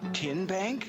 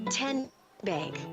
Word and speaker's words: TN Bank: Chancellor in Anderson County how do you say the name TN Bank nope tin bank uh-uh so what is it 10 Bank 10 as in Tennessee right here where all